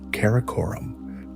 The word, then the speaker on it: Karakorum: In 1235 AC, Ogaday commissioned the construction of a permanent capital city, Karakorum, pronounced Kar-a-Korum.